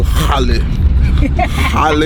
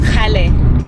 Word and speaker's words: Kgale: Guys, I woke up this morning and we are headed to Kgale Hill. I don't think that's how they say it. How did they not say it? It's Kgale.